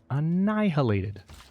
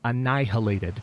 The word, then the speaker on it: annihilated: And you are going to get annihilated. Yes, I just pronounced the H in annihilated because I'm annoyed at those barbarians.